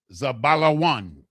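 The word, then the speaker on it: Zebulun: The 5th one, H2075, is Zebulon. Zebulon, with the Za, the Ba, the La, the Wa, and the Na. In the Hebrew, it is properly pronounced Zabalawan.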